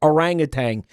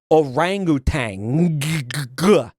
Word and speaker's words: orangutan: My entire life I was taught that that animal and by the way this is not an orangutan. I was taught that you pronounced the name of that animal orangutang.